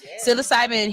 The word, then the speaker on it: psilocybin: What will take more time is establishing psilocybin, I said it right that time, psilocybin healing centers as prescribed under the initiative.